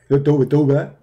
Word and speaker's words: Tawbah: Tawbah.